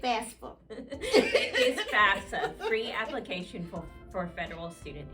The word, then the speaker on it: FAFSA: It is FAFSA, free application for federal student aid.